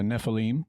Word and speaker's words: Nephilim: Yeah, Nephilim. Okay. Typically in Hebrew, the accent is on the last syllable.